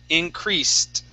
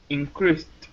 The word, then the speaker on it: increased: Okay, give me a T sound at the end. Increased. Increased.